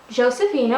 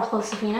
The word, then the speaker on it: Josefina: So, Josefina, or Josefina as it's properly pronounced, finally got her Navidad outfit.